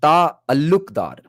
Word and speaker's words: Talukdar: So the actual surname Talukdar is supposed to be pronounced as Ta Alukdar.